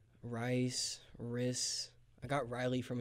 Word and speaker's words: Rhys: like that yeah like nobody ever says my name right first cuz it's spelled weird so I was like yeah I just spell it out for him rice RIS I got Riley